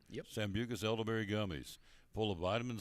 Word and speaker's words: Sambucus: Did I say Sambucus? Did I say it right? Yep. Sambucus elderberry gummies, full of vitamin C and zinc to build up the immune system.